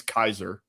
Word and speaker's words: Caesar: I think it's pronounced Kaiser. It's really pronounced. Well, the actual Latin pronunciation is Kaiser.